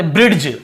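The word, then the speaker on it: bridge: जी के पहले डी तो इसे अब हम नॉर्मली कैसे पढ़ते ब्रिज ड ऐसे पढ़ देते क्योंकि डी लिखा ब्रिज ऐसे पढ़ देते हैं हम लेकिन क्योंकि डी को नहीं पढ़ केवल ब्रीज क्योंकि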